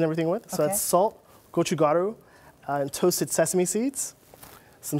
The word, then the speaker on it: gochugaru: So we take the egg yolk, submerge it in salt, sugar, and gochugaru. Gochugaru is a Korean chili flake.